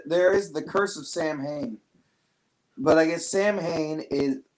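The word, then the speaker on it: Samhain: the free diabetes in the bag now but Sam Hayne is actually a pagan religious Festival originating from an ancient Celtic spiritual tradition huh a Gaelic word pronounced Samuel saw wind usually celebrate from today until the evening of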